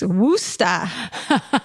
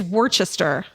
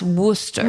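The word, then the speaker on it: Worcester: It's Wooa. Did you know that? Uh, I wouldn't have known it from spelling. It's Worchester. It's spelled Worchester. Yeah, it's pronounced Worooster.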